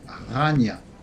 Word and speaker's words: Chania: ville s'appelle La Canée en grec c'est plutôt Chania ou Ania et se prononce Rania lors de la messe